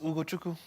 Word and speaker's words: Ugochukwu: It's Ugo Chukwu. Ugochukwu. Yeah, That W even after the pronounced K it makes it.